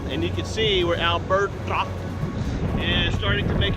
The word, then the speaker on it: Alberto: I've been saying it like Memphis, Tennessee, Alberto. No, it is Alberta. Alberta. It's supposed to be a Spanish, you're supposed to roll your R's.